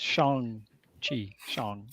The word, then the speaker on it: Shang-Chi: It's Shang-Chi.